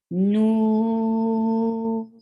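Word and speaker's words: نون: Why we are stretching noon? Because more 3 letters are involved to pronounce this letter, and you find sukoon at the last, and you find the mad letter before it. Whenever this combination comes, you stretch it more than 2.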